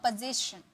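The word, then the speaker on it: position: ज, इसका साउंड आएगा ज, पोजीशन, पोजीशन, ओके।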